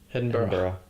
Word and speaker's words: Edinburgh: How do I pronounce Edinburgh? Edinburgh.